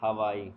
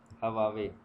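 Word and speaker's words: Huawei: हवाई। ठीक है, हवावे, हवाई भी इसको बोलते हैं, हवावे भी बोलते हैं, तो जो आपकी प्रोनाउंसिएशन हो।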